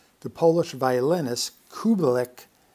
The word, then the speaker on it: Kubelik: The Polish violinist Kubelik had a name which was mispronounced by non-Polish speakers as Kubik.